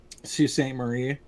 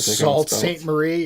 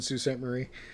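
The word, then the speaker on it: Sault Ste. Marie: that too like um sault ste marie does not like salt saint marie yeah i actually worked with a guy who lived in sault ste marie yeah i mean but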